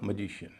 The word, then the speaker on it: magician: तो यहां आई से पहले जो सिलेबल है वह हल्का हो जाएगा और ए को बोला जाएगा अ ना कि ए या ऐका उच्चारण होगा मैजिशियन। इसी तरह एक और शब्द